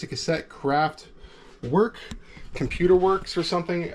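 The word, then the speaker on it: Kraftwerk: It's not work. It's like, is it right here? W-E-R-K, work, kind of like work, craft work, but not quite.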